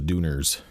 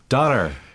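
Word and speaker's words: Döner: And we called ourselves the Dooners. We named ourselves after a sandwich that we ate every day. A Dooner kebab. A Dooner kebab. Doner.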